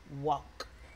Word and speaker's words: walk: Un pequeño tip de pronunciación. Esa L no suena. Ustedes no dicen walk. No, se dicen walk. Pasa lo mismo con el verbo hablar. Talk. No es talk. No es talk. Talk, walk. Okay.